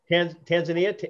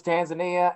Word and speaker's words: Tanzania: tanzania is looking to legalize we have licenses tanzania you know what i thought it was tanzania and everybody says no you're pronouncing it wrong it's tanzania i was like